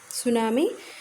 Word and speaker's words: tsunami: सुनामी, यहाँ पर जो टी है वो प्रोनाउंसिएशन के समय साइलेंट रहेगा। सुनामी, इसका प्रोनाउंसिएशन सुनामी होगा। टी आपको प्रोनाउंस नहीं करना है।